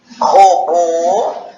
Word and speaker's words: robô: É que na letra robô, o som do O está fechado, né? O som fechou.